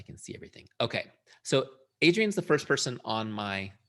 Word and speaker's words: Adrienne: touch so i can see everything okay so adrian's the first person on my list okay and am i saying your name correctly yes that's perfect a3n or adrian adrian adrian okay good i've done this before